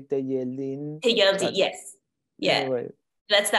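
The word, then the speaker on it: Telleldín: Yeah, we say Techeldin because we say shh in Argentina. In the rest of the Spanish language world, they would say Techeldin.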